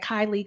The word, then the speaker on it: Kailei: on all socials at kylie and i have a lot of a lot of vowels in my name so i'll spell it k-a-i-l-e-i is my first name